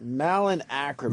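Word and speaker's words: Malin Akerman: Malin Ackerman.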